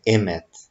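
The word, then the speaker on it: אמת: A pronúncia, então, de verdade em hebraico é Emet.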